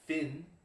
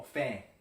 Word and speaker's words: fin: green tea it's for Finn de Journey so the end of day the end of day Finn fins are at the end of fish that's not how you pronounce it oh fan right I don't know don't